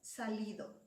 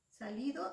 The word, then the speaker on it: salido: Y en el último verso, la palabra es salido. Salido, su sílaba tónica. Salido. Es li. Esa es la sílaba tónica. La vocal de la sílaba tónica es la I.